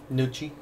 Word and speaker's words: Nucci: I keep forgetting that the C-I pronounces a chest sound. Nucci. Nucci. Like, think like Gucci.